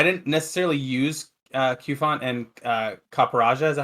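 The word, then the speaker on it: Copperajah: necessarily use I didn't necessarily use Qfont and Caparaja, is that how you pronounce it? Caparaja, yeah.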